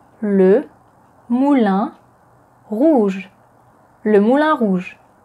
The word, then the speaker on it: Le Moulin Rouge: As Moulin is the masculine noun in French and it starts with a consonant, then the definite article is le. Le Moulin. Le Moulin Rouge.